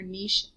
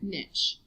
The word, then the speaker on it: niche: Sometimes you hear niche pronounced that way. That was what my professor, the way that my Australian professor pronounced it, but otherwise you might hear it niche. Your book describes it as niche.